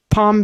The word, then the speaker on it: palm: Palm Beach. Yeah, that's one where we never pronounce the L in palm.